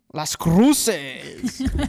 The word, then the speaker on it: Las Cruces: So softball just traveled to, I'm going to have you pronounce the city name. Las Cruces.